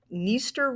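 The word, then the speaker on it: Dniester: water for irrigation Ukraine's niester River so like for our previous two there the D is silent uh this river is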